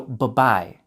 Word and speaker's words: bye-bye: For adults, for it to sound natural, only pronounce the B in the first bye. So, bye-bye.